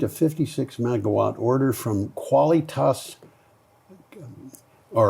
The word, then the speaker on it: Qualitas: Nordex group has received a 56 megawatt order from Qualitas. All right. Kavalas because they pronounce a quu like it's KV um Energy Energy Deutseland for the Vipper Shine Vipper wind farm in Hessa.